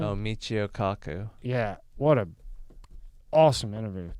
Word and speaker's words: Michio Kaku: Oh, Michio Kaku.